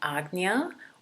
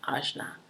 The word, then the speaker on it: Ajna: about a sixth chakra which is called agnya or Ashna course there's different pronunciations that you will hear but it's a J and a I'll just say oz na and so it's right